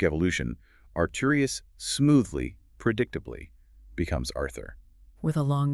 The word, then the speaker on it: Arthur: In the original metric structure, the name Arthur is exclusively rhymed with words ending in a long U sound. It rhymes with words like mer, meaning wall, or per, meaning pure.